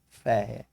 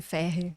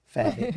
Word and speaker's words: Ferrer: E pela primeira vez aqui com a gente, espero que primeira de muitas, doutora Ferrer. É isso, a pronúncia é essa. Ferri. Ferrer.